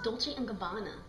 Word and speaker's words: Dolce & Gabbana: They have amazing designers such as Dolce & Gabbana. It's Dolce & Gabbana.